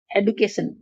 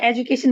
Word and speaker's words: education: एडुकेशन, कुछ लोग इसे एजुकेशन भी बोलते हैं, कुछ लोग इसे एडुकेशन प्रोनाउंस करते हैं। Both are correct.